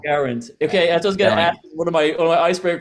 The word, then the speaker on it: Geraint: names being pronounced wrong no one can say guarant so guarant okay one of my